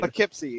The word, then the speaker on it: Poughkeepsie: I can't quite pronounce. It's a lot of letters for a shorter name. Poughkeepsie, yeah.